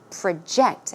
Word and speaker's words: project: in today's actual talk we learn the verb form of project so it's project project okay it means to